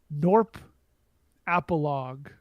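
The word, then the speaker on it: Gnorp Apologue: the Discord which is norp appal uh which is spelled g n o r p a p o something something if you type norp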